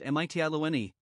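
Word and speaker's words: Mitylene: of asia minor they first came to medellin pronounced mitiani the chief city of the island of lesbos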